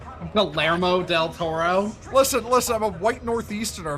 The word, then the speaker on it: Guillermo del Toro: I'm still crashing out over y'all mispronouncing Guillermo del Toro's You name. mean Guillermo del Toro? Guillermo del Toro?